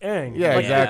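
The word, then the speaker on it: Aang: wrong I was like it's not on it's Ang it's not like you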